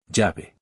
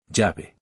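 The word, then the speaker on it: llave: Jabi. That means key. Remember the double L in Mexican Spanish makes a ya sound. Say key after the speaker. Jabby again.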